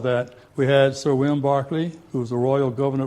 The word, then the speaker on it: Berkeley: So I had to tell them that Barclay is the old English pronunciation for Berkeley.